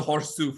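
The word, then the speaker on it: Chorzów: And so, you know, as as we like to pronounce things the way they more or less should be pronounced in the native, the Horsu factory case.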